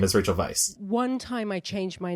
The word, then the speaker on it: Weisz: to my agent and I changed the spelling to um v y c to spell phonetically Vice and my agent um